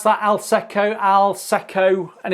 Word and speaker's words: Alsecco: Do you pronounce that Alsecco? Alsecco, and it's the I'll say what it is here.